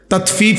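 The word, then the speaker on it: تطفيف: এটা একটা গুরুত্বপূর্ণ বিষয় তাতফিফ শব্দের অর্থ হলো তাতফিফ বাংলা শব্দটা বুঝছেন উচ্চারণটা ত আকার তা ত তাত ফ দীর্ঘিকার ফি ফিফ এই তাত ফিফ এই হলো শব্দটা অর্থ হলো প্রথম অর্থ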